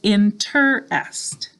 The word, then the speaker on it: interest: All right, I hope you had 3 syllables, interest.